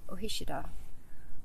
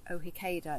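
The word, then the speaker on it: Ó hÍceadha: So Hickey, our surname, It's an anglicised version of Ohishida, or as we used to pronounce it before we realised we were pronouncing it wrong, Ohikeda.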